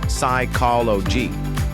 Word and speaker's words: psychology: Second from science is the word psychology. This is the study of the mind. We say psychology.